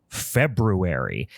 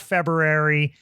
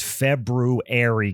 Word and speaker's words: February: And I will take this opportunity to remind everyone it is pronounced February, and I will die on that hill. February. It's not February. It is February, guys.